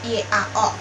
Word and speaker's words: yao: Nah, kalau yao ini dia itu biasa Y-A-O, dibacanya ada Y-nya, yao.